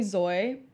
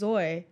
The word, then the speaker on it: Zoi: And so I'd be like, okay, what rhymes with Zoy? Koi.